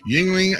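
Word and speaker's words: Yuengling: west coast beer lovers it's pronounced yingling yingling and sun america's oldest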